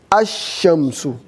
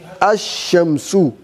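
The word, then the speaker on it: الشمس: But because of this shadda here, that means you cannot read this lam. This lam will go off. And this alif also, you pronounce it. Ash-shamsu. Ash-shamsu. Right? So this is one of the letters that you write it, but you don't read it.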